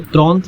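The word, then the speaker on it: trente: 30 बस लर्न कर लीजिए, 30 बोलते हैं त्रोंत, ठीक है। 30 को तो त्रोंत ये हो गया हमारा।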